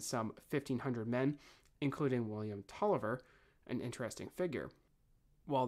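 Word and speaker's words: Taliaferro: 1500 men including William Tolliver an interesting figure while the name is actually pronounced Tolliver it is spelled talifiero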